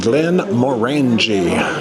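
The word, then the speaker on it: Glenmorangie: we did learn that it is pronounced Glenn morang like orange so if You' like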